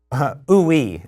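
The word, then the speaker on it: Ooui: And it's called ooey is how you pronounce that.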